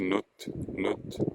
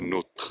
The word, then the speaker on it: notre: Hein, on ne dit pas le R, en l'occurrence, donc on ne prononce pas ce R. Hein, notre famille, autre situation, vous voyez, note, non pas notre.